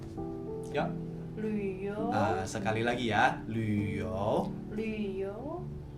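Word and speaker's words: 旅游: Mandarin traveling itu bacanya Luyo. Ya. Luyo.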